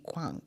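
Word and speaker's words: Quang: I've had my son meet me there a couple of times and it's spelled like qu u a n g kang. Yep. Qu a n g. Yeah. Exactly how it's spelled.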